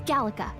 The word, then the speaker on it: Gallica: It's Gallica. It's Gallica. Okay, I've been pronouncing it right.